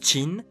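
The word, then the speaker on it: Qin: du nom du pays Kin qui se prononce chin est à la base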